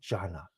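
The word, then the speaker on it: jhāna: older word called Chana, which is our way of pronouncing the original North Indian word called jhana or John.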